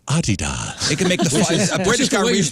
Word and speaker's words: Adidas: a sale today on Adidas yeah he says Adidas and that's the way it's pronounced by the way it is a British